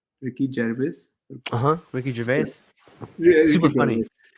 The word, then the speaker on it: Gervais: How do you pronounce his name? Ricky Gervais.